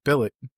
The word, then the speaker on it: Bilyk: Bilyk. You got it. You got it. You got it. Bilyk? Bilyk, yeah. Bilyk, Exactly.